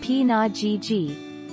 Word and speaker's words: pinajiji: If you'd like to know a few easy Ho-Chunk words, hey-ho, pronounced ha-ho, is a friendly greeting, and pinajiji, pronounced p-na-ji-ji, means thank you.